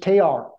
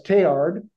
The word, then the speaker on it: Teilhard: It's just Teilhard. But in the community of practice at this conference among scholars, especially Americans, they've anglicized his name and they say Teilhard with the hard D at the end.